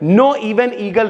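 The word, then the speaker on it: Knoevenagel: उसके बाद भैया अब यहाँ पे देखो, यहाँ पे K साइलेंट है, नो इवन ईगल रिएक्शन है भाई, ठीक है।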